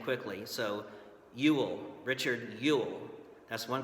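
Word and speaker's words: Ewell: examples the first one it sounds like combining the words you and will together as saying it quickly so you will Richard you'll that's one correct way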